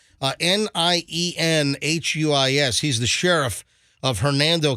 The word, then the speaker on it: Nienhuis: Al, is it Ninehouse? I don't know how to say his name. I always thought it was Ninehouse. Ninehouse? Ninehouse? Nienhuis.